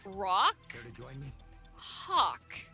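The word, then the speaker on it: Rawk Hawk: Which I shit you not, the champion wrestler's name, and I'm gonna have to pronounce this very carefully, is Rock Hawk.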